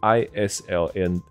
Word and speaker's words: island: 是一个岛嘛，那是 Island。